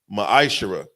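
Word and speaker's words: מַעֲשֵׂר: verses 8 through 10, means 10th in the Hebrew is pronounced ma'ashera.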